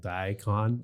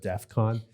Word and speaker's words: DEFCON: By the way, he's people were making fun of him because he said it wrong. He said death, like Diacon, instead of DEFCON.